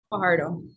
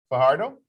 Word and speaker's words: Fajardo: Fajardo. Fajardo? Yes. The J pronounced H, right?